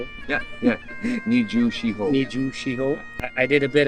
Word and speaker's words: Nijushiho: Nijushiho.